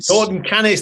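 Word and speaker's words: Norton Canes: And yes, it's turquoise because I'm at Norton Cannes service area on the M6 toll. Norton Keynes. They said at the reception. Keynes. I'm talking what the locals say, Chris.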